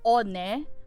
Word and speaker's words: One: quotations little sister named on that is o n e it's spelled as one but it's pronounced on and she is also